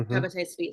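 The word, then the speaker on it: Shabbetai Tzvi: And so how do you pronounce it? The Shabbatean Zvi. So Shabbatite Tzvi. Hmm. Shabbatai Tzvi.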